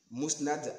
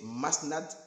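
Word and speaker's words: Musnad: Maintenant, il dit que lors du débat du Congo, moi j'ai prononcé Masnad Ahmad. C'est-à-dire au lieu de mou, moi j'ai dit ma.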